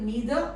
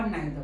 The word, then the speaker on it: neither: neither this word is can you can pronounce it neither or neither both are correct either or either he